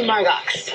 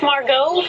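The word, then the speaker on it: Margaux: So, you must be Margox. It's Margot. The X is silent.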